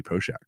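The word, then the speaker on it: Poeschek: At least 1990s hockey pronounced it Poshak. It might be wrong, but maybe Nick will notice and give us a comment there.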